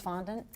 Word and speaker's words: fondant: i saying it wrong it's fondant i call it fondant fondant like respondent okay probably so are